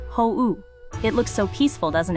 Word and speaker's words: 法: The innocent looking N4 kanji for law pronounced ho.